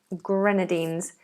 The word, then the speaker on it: Grenadines: out San Marino Grenadines I think it's Grenadines you know Grenadines but I have heard different pronunciations let's see if Oxford has it yeah it's Grenadines um right it's just